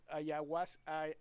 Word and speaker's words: ayahuasca: C'est un sujet qui est large, mais tu offres vraiment des beaux tours de rituels, genre ayahuasca aussi, je le prononce bien, ayahuasca? Ah oui, ayahuasca.